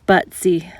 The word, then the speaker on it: Butze: never been here before I was told that the locals pronounce it but see so that's what I'm